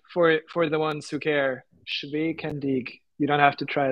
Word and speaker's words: Schwekendiek: It's pronounced Schwekendiek for the ones who care. Schwekendiek.